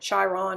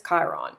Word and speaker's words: Chiron: my hand for a long time I was pronouncing it chyron or Chiron or Shir on to but I actually looked it up and it's Chiron if you've been mispronouncing it don't worry it's